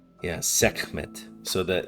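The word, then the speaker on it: Sekhmet: So, the the K is really like rough and hard. Seek. It almost has a little bit of like the the the flem in the back of the throat that you sometimes get in those Middle Eastern languages.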